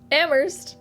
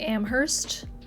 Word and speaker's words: Amherst: no wer um ammer looks like it should be Amherst but it is not wor like w sauce